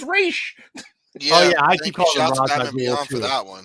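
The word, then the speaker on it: Ra's: pronounce his name because i always thought it was razz but apparently it's raish oh yeah for that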